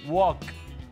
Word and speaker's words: walk: leer qué es aprender tenemos wok ya que la pronunciación uoc la l es muda tenemos el verbo drive